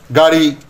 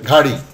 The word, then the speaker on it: গাড়ি: যেমন কাক, এটা হয়ে গেল খাক, চাচা, এটা উচ্চারণ করতে গিয়ে হয়ে গেল চাচা, টাকা, এটা উচ্চারণ করতে যে ঠাকা, গাড়ি, সেটি অনেক সময় হয়ে যাচ্ছে ঘাড়ি, পতাকা, এটাকে অনেকে উচ্চারণ করে ফেললো ফতাকা, ডাব,